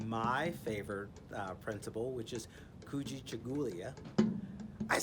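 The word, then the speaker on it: Kujichagulia: Tomorrow, we're going to work on my favorite principle, which is Kuji Chagulia.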